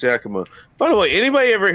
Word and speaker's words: Yakima: lacy i like the way you say that yakima that's how you pronounce it actually it actually is pronounced yakima by the way anybody ever hear about the